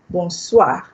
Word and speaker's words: bonsoir: You say bonsoir. What does bonsoir mean? Good evening. Okay, good evening. Bonsoir. Bonsoir. Bonsoir. The OI here is a wa. It's a wa.